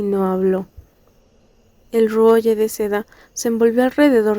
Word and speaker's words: Ruoye: Nota: Ruoye es pronunciado originalmente por su escritora en chino como Ruoxie, pero la autora ha señalado que deberíamos referirnos a él como Ruoye.